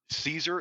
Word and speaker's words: Caesar: No, it's Caesar is supposed to be pronounced Kaiser.